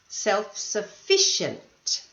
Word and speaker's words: self-sufficient: some pronunciation uh points self-sufficient the second last syllable this one however reliable